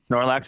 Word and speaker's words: Snorlax: The world's most expensive Snorlax card just sold for over $10,000. Did I pronounce that right? First off, Snorlax. Snorlax is right.